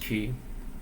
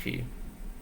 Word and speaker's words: chi: sort of learning about chi I guess was pronounced key in Chinese that I'm just pronounced key yes but I I